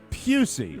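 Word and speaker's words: Pusey: oh I'm I'm sorry Kevin pusy like Gary buy oh I'm so sorry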